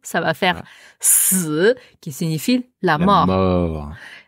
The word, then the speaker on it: 四: Bien prononcé au 4e ton.